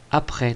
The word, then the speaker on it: après: Première difficulté, après. Donc on coupe en syllabes, A, d'accord. Et ensuite, près, P, P, R. Le R est l'accent de la flèche. Et là, une difficulté, S, muet.